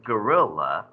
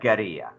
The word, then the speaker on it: guerrilla: as a spanish word the word we mispronounce this as guerrilla but how would you pronounce that if that was a spanish word yeah you this comes from a root word gada which is like a war in spanish so this is like a geria and what a guerrilla